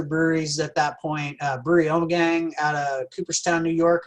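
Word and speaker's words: Ommegang: Omni Gang. We have been calling Omni Gang, but how's it pronounced correctly? Omegang. Omegang. Well, there we go.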